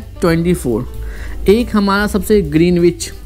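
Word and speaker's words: Greenwich: ग्रीनविच वाला line होगा, ग्रीनविच इसको कहते हैं, प्रोनाउंसिएशन ग्रीनविच नहीं कहते हैं, ग्रीनविच कहते हैं।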